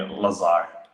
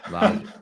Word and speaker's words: Lazar: In the United States, they usually call me Lazar. Lazar, yeah. I wonder why that is. You guys have a weird pronunciation of stuff. Lazar. How about this? Lazu. No. Lazar.